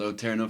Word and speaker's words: O Terno: Well, the band name rhymes with Bonjourno.